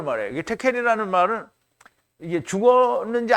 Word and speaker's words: Tekel: 데켈인데요. 데겔인데 이게 테켈이에요. 원래 발음이 테켈이 맞아요.